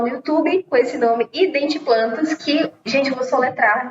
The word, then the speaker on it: Identiplantas: YouTube com esse nome Identiplantas, que, gente, eu vou soletrar aqui, porque geralmente o pessoal confunde, né? confunde achando que é em inglês, identiplantes. Mas não é identiplantes, é identiplantas, em português mesmo.